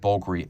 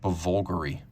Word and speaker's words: Bulgari: the wise despite the romanes spelling it is pronounced bulgary you'd be amazed at how many people I encounter who ask me about bger it's stylized to disguise the decidedly non-italian origins